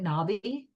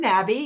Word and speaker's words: Nabi: exactly when people ask, then I say it's Nabi like Cabby or Tabby. Okay, very But good. I'm not offended. Sometimes I get Nobby, so I get the